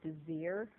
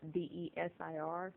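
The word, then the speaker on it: Désir: And this right here is Desir. It's Desir. That's how you spell it.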